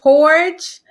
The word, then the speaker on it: Hordge: i am here with willie and miss latoya gorge am i pronouncing your names right yes you probably got